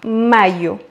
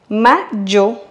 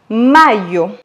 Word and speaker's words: mayo: À savoir que le Y en espagnol se prononce comme le I en français. On dirait donc mayo.